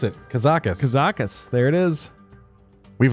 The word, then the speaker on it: Kazakus: All right, now we know how to pronounce it. Kazakus.